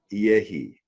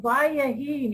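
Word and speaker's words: ויהי: be" to this word yehi. And Sylvia, if you think I'm pronouncing this wrong, you can go right ahead and let me know, okay? Vayahi. It's what? It's Vayahi, not Yehi.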